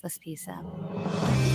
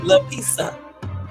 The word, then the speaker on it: Laspisa: This is the case of Bryce Laspisa. Pisa, that's how you say his name. La Pisa.